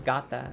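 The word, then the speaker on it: γάτα: The only difference is the gender for the noun is feminine, so it becomes gata. Gata is how you say cat in Greek.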